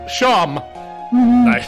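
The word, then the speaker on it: Seam: better spent about yourself the name SE pronounced sham nice and this is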